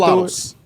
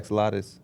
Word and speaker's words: axolotl: I think you're saying it wrong. Axolotl. Axolotl. Oh, I thought it was axolotus.